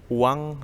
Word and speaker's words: Oeang: Yang pertama, upayanya adalah, nah ini, kebijakan Uang Republik Indonesia. Uang, OEANG. OE itu ejaan untuk U lama. Ya, jadi kalau U dulu itu menggunakan O dan E, sehingga dibacanya, ditulisnya OEANG, dibacanya uang.